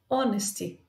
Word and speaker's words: honesty: Por exemplo, honesty é H, mas você não pronuncia o H é mudo.